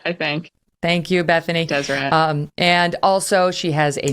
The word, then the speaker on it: Deseret: Deseret.